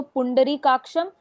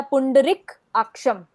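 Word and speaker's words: पुण्डरीकाक्षम्: या तो पुंडरीिकाक्षम या पुंडरिक अक्षम नहीं कौन साक्षम एक शब्द के जैसे ही पढ़ना है इसको अगर इसको हम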